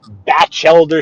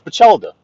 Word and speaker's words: Bachelder: out in the chat, they say Batchelder Street or Bachel. They use all these different pronunciations. Now, I know the way we say it in the neighborhood, but we could be pronouncing it completely wrong. But it's the way we say it. It's our street. It's in our neighborhood. We say it's Bachelder, Bachelder, yeah.